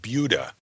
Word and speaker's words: Buda: It's about 100 miles, for all my 16 years, and I have never called it anything but Buda. Yes, I pronounced it Buda, which is what I was told by my daughter it was pronounced.